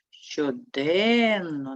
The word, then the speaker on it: щоденно: де і третій дно поставимо наголос щоденно наголос падає на другий склад з'ясуємо які приголосні звуки